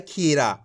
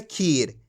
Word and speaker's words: खीर: यहाँ पे कोई मात्रा नहीं लास्ट के अंदर तो कैसे पढ़ रहे खीर। ये आपको अच्छे से समझ लेना है, लास्ट वाले अक्षर का उच्चारण आपको आधा करना है खीर।